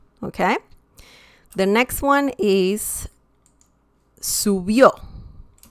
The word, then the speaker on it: subió: And I believe this too, this is the last syllable, subió. Colibrí. Okay? So we have an accent mark because colibrí ends in I. Okay? So that's why we have an accent mark. Also, subió ends in a vowel, so that's why we